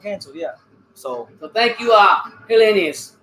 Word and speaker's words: Helenius: So thank you, Helenius.